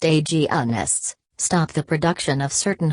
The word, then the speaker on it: agonists: Gonadotropin-releasing hormone, GnRH, agonists, pronounced agonists, stop the production of certain hormones to prevent ovulation, menstruation, and the growth of endometriosis.